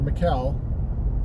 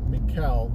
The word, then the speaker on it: Maikel: what happens with that Maikel Franco or Macau Macau I think it is Michael they were talking about the other day I was like McHale they really put out that last syllable regardless Franco has not